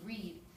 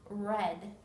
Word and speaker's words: read: say the long e read but if you are using this word in past tense it's pronounced red like the color so we can have